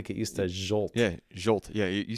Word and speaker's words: Zsolt: Yeah, Zsolt.